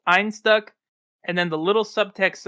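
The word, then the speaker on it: Einstök: and like I said I learned the the can I think is supposed to be pronounced Ein stuck and then the little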